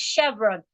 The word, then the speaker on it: Chevron: o n o r Chevron CH h v r o n is pronounced Chevron the ch there sounds like sh how do we teach